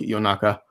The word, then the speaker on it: Yonaka: word for midnight although the actual Japanese word espresso differently it's more like yo naka it's their name they